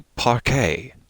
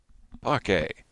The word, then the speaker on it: parquet: how to pronounce it apparently parque is what i'm i'm being told okay let me make sure i can't i can't hear that that screen here we go parquet all right mystery solved that is at least the american pronunciation that might be regional dialect yes there must be